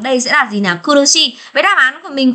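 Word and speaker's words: 苦しい: Đây các bạn sẽ nhớ xem là thừa xi ra ngoài thì sẽ là kurushi, nhưng mà thừa y ra ngoài thì sẽ đọc là nigai các bạn nhé.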